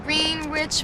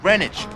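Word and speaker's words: Greenwich: on you get enough food down there in green rich Village no first of all is pronounced renage all right you got to get a little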